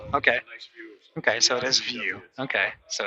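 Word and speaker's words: Viau: okay so it is view okay so it's dot view so that's how you pronounce this last name spelled v-i-a-u but it's pronounced view it's like a nice view there you go so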